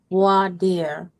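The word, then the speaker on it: voir dire: On Monday, June 8th, the final day of evidence after defense had spent voier va vaire, how you pronounce it. I'm not French. It's opening the entire cross-examination of the state's vadier.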